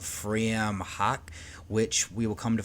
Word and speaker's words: Frewaka: It looks like it's Freewaka, but I actually don't think that's how you pronounce it because this is an Irish title. It is phonetically in the spelling of Irish language word of Fream Hawk, which we will come